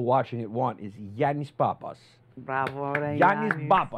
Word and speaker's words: Pappas: it want is yanis Papas bra yanis Pap it almost with a B but it's a p Papas but my original name